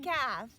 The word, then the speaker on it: calf: a l and f we don't hear the l when a l and f walk together you only hear the a and the f so i'm gonna take